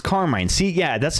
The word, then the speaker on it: Carmine: So, someone was playing this card the other day at the tournament and they were pronouncing it Carmen, but I see that as like Carmine or Carmine.